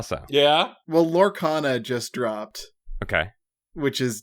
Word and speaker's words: Lorcana: how so yeah well lorcana just dropped okay which is Disney's uh Magic killer oh yeah yeah yeah yeah it's not how do we spell that lore what lorcana l-o-r-c-a-n-a like Laura and Arcana wow okay yeah is